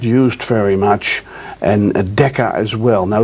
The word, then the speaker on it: mu: and that symbol you see over there is Mu is pronounced mu and then Millie we're all familiar